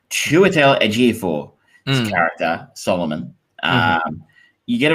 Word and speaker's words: Chiwetel Ejiofor: Chiwetel Ejiofor, his character Solomon.